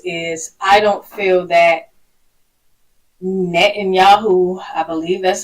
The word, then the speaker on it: Netanyahu: One of my thoughts on this is I don't feel that Netanyahu, I believe that's how you say his name,